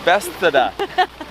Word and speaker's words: Bethesda: Bethesda.